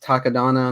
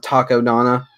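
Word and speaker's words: Takodana: taco donna i think i think that's how it's pronounced takadana not taco donna sounds like a place where you buy tacos it does or or um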